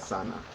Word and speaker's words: sana: Not sana like what you chilling. Well, not chilling, but what you go into, just sweating. You know, not the skin works. Different type of sana. It's spelled as it said, sana, S-A-N-A.